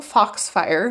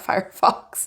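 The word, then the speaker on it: Foxfire: the uh fox fire I always say it wrong fox fire not fire fox oracle cards and the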